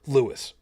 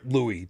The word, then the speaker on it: Louis: are William Arthur Philip Lewis or Louis depending as to how you pronounce it now if you were